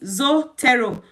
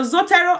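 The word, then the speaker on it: Zotero: one app we're going to be look is zoto zoto is spelled z o o t e r o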